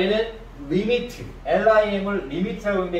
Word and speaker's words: lim: 극한의 기호는 LIM이라는 기호를 쓰고, 이걸 읽을 때는 리미트라고 읽어요. 자, 얘는 리미트, LIM을 리미트라고 하는데, 이 리미트는 뭐다?